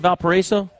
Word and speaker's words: Valparaiso: valparaiso indiana is that how you say it valparaiso it's from your neck of the woods you